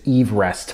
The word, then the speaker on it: Everest: I should for example the actual pronunciation of it is Ever Rest from the top of